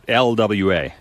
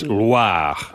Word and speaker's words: Loire: Oh, I didn't Not roll the Loire. R. It's not LWA. Oh. It's Loire.